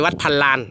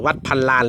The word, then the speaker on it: วัดพันลาน: ของ หลวง ปู่ จ้อย วัด พันลาน นะ ครับ เออ วัด พันลาน หรือ วัด พัน ล้าน นะ ครับ ก็ แล้ว แต่ จะ ออก เสียง เนาะ วัด พันลาน นะ